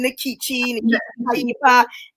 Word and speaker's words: Nkechi: about yourself yes okay so i pronounced my name nikki and um i'm an